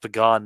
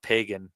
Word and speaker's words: Pagan: He got a win over James Bernardin, and it's pronounced Pagan, not Pagan. So, next time you find out that, someone's practicing an alternative religion, maybe they're not pagan, maybe they're pagans.